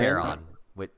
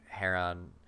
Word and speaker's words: Charon: Charon, but it's actually... the Heron. Greek pronunciation is Heron.